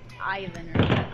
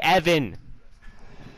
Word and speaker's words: Evan: sludge to a Ivan. No. Ivan? It's Evan! I mean, some people would say Ivan. I don't know if you know Evan? That. Yeah. Some people would pronounce that Ivan.